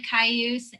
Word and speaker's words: Cayuse: the relationship between the tribes and how to pronounce all of them yeah so the tribes are umatilla cayuse and nest purse um currently right now they're